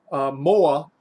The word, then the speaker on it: moa: So chicken in Hawaiian is moa. In Hawaiian Pidgin English or Hawaiian Creole English, moa is how you say more.